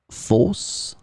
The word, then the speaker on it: fausse: In this lesson, we will see together two words that are written differently but pronounced the same way. Fausse, fausse.